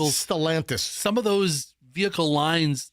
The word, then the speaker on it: Stellantis: No, it's Stalantis. Am I saying it wrong? Stalantis. Stalantis. You said Solantis.